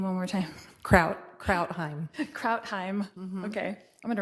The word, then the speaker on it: Krautheim: Kraut Krautheim. Krautheim. Okay. I'm going to write that in phonetically.